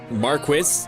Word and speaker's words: marquis: Marquis is a noble. Marquee is a canopy. A canopy. Both supposedly pronounced the same.